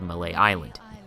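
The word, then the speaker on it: Mallet Island: at a place called malay island yes the tea is silent and she needs you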